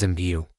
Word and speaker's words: MBW: This was a magical device enchanted by what the immortals called MBW, which they pronounced as imbu.